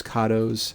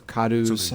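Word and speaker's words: Cadou: is one of those kados or kadu i've heard it pronounced both ways thank you chris so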